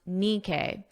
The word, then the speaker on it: Nikkei: I listened to the pronunciation and now I know it's pronounced Nikkei.